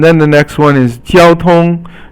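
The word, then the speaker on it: 交通: And then the next one is 交通. 交通 is all first tone, and it means traffic or communications.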